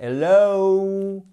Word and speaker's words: hello: double son, et que vous retrouvez par exemple dans hello. Et vous voyez, c'est pas hello, c'est pas un O du bout de la bouche, non, c'est hello.